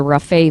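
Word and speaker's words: Rafay: washington bellevue washington yes um it was the rafae family and could you spell that r-a-f-a-y rafae family so triple murder yes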